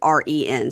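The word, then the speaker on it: Ryn: I usually write it ren so that I say it correctly, but then I decided maybe I was being disrespectful in my notes, so I typed it R Y and I'm making myself say Ren, even though it could be Ryan.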